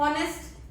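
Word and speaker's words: honest: ठीक है नेक्स्ट है एंड ऑनेस्ट बॉय यहां पे भी ह साइलेंट रहेगा इसके साउंड ए रही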